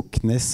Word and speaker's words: CNES: en électronique hyperfréquences au cnes le cnrs comme on prononce d'ailleurs le cnes ont dit le cnes et si on et